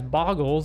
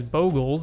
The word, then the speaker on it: Bogles: today we're looking at boggles pronounced correctly as boggles or incorrectly as bogles by weirdos who insist gifts or gifs is